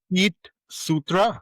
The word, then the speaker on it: Feetsutra: It's called Fit Sutra. Feet as in what? What? Like feet as in feet.